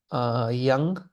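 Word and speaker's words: དབྱངས: Yang, this is pronounced yang. Da, ba, yatak, ya, ngasa, yang.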